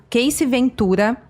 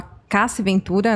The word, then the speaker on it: Cassie Ventura: Mas quando aconteceu mesmo, foi em novembro do ano passado, de 2023, quando a Casey Ventura, ou a Cassie Ventura, né, a forma certa de pronunciar o nome dela, que foi namorada do